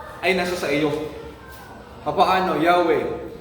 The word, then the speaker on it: Yahweh: Yahweh. Ang tamang pronunciation ng pangalan ng Yahweh is para kang huminga, inhale at exhale.